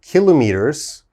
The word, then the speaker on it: kilometers: hour all right so i've been using the pronunciation of kilometers but some people might say kilometers okay so both uh pronunciations are acceptable kilometers and kilometers but more common is kilometers okay so let's look